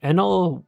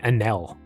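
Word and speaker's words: Enel: Next up, we have Enl going first, 43, going second, 59. Another tangent. Why do you guys call it NL?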